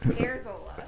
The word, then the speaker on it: Erzola: It is very phonetic. Erzola.